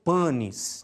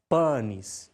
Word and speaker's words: panis: Quer dizer, nós temos a tendência de pronunciar a palavra latina panis, por exemplo, nasalizando o A, o que resulta em algo como panis, né? Isso deve ser evitado ao máximo, tá? Tentando sempre pronunciar as vogais de maneira aberta, mais ou menos como os italianos fazem hoje em dia, tá? Então, pronunciando panis, tá?